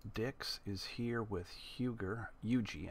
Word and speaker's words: Huger: Eugi, I guess, is how that's pronounced. Eugi.